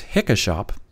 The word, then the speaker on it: HikaShop: is it hikka shop is it hikka shop well Brian teeman came back and said it's hicka shop based on the logo and I'm going to